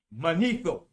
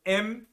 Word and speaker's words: Manetho: Manetho, that was the name I try to remember.